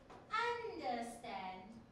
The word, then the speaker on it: understand: understand yes I understand you wouldn't say understand you would say understand so you see the stress on the third syllable all right let's look